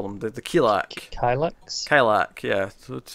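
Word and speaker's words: Kilaak: Kilak, yeah. That's how you pronounce it.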